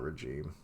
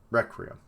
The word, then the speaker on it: Requiem: No, that's not regime. Requiem. Yeah, that's it. I was like, I know this word, but that's not how it's said.